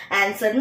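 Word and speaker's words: answer: ஆன்சர்னு சொல்லும்போது ஆன்சர்ன்னு சொல்லும்போதே எ ஓட வந்துருக்கு.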